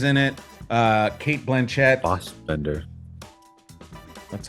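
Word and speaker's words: Fassbender: Uh, Kate Blanchett, Fosbender, that's how you pronounce.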